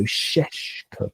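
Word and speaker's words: Šeško: In his name have little V's on top, turning into an SH sound. So Sheshko. It's actually quite hard to pronounce, but he's rubbish.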